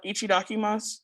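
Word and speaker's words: いただきます: all pronunciations today um the word uh ichidakimasu you can think of eat a duck i must uh the expression ichidakimasu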